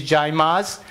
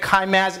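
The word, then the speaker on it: Caymaz: So the original pronunciation of C-A-Y-M-A-Z is Jaymaz. And I usually don't use it. Informal occasions, people do. When you pronounce it at Kaimaz, it means friction man.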